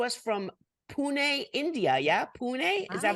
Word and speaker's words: Pune: is coming to us from Pune India yeah Pune is that how is that how you say